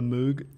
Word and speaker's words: Moog: Moog I think it's Moog but it's I mean with two o's you'd think it's moo maybe I'm from Great